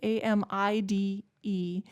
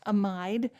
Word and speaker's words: amide: this is called an amide, A-M-I-D-E, sometimes pronounced amide, but amide, depending on where you are in the country or world for that matter, you may hear either way.